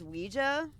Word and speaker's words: Ouija: half a IGA board or I guess it's supposed to be pronounced Ouija apparently per the Ouija makers I don't know I'm just going to call it luiga board you remembering that